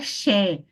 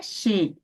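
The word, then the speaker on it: שְׁ: É, não é Xé, é Xê, Xê, tá bom?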